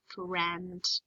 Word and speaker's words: friend: But here it actually stands for the eh sound. Notice it's in a yellow box. It's in a yellow box because it's a tricky word. Tricky words are total rule breakers. They don't follow the rules. I don't know why. They just don't follow them. So IE in this word stands for eh.